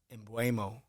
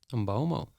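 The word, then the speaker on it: Mbeumo: And we were chatting about the Brian Mbuemo, but he actually on a Man United video says Brian Mbomo. Mbomo.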